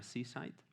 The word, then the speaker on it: CSIDH: propuesta muy interesante basada se pronuncia sicite pero se escribe csidh y esta propuesta no queda afectada por este tipo de ataque y lo interesante que tiene seasite es que es no